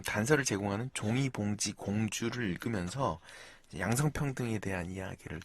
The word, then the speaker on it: 종이봉지 공주: 관련 생각을 생각하는 그림책 종이봉지 공주를 통해서 네. 종이봉지 공주. 네. 그래서 어떤 그림책일지 이거 읽을 때 궁금하네요. 종이 네. 봉투 공주라고 하시는 분이 있는데 네. 그 발음에 주의하시고요. 네. 종이 봉지 공주고요.